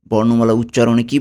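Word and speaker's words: cu: কিউকে কিন্তু কিউ বলা যাবে না, ইতালিয়ানে হবে কু।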